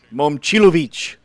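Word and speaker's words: Momcilovic: It's not it. Everybody says it wrong. I did want to make fun of you last night when you Momchilovich. said his name. Momchilovich. That's how you say it.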